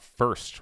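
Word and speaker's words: Fhirst: This one's coming from Emily Gosling, came out October 14th, which is yesterday, and it's all about First, which is spelled F-H-I-R-S-T.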